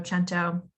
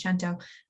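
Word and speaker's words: cento: have to like collect santo chento there's so much conversation around how to say the word i'm italian i'm going to tell you it's gento um and so i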